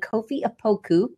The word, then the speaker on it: Kofi Opoku: I have my friend Kofi Opoku, right?